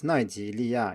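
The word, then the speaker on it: 奈及利亞: So for example, the country Nigeria is Nǐrìlià in Chinese, that's mainland standard, but in Taiwan it's Naijilià instead.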